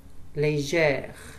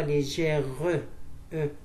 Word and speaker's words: légère: Légère. Légère. On ne dit pas légère. Légère. On dit 21.